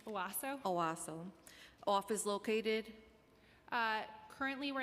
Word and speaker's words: OASO: So can you share with us under which city agency is the OASO, how do you pronounce that? It's OASO.